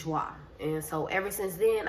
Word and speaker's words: JWA: And the pronunciation of my name is Joie. So instead of me writing joy regular, how it's spelled, J-O-I, I just took the how I thought people would think it sounded like, if that makes sense. So J-W-A is Joie.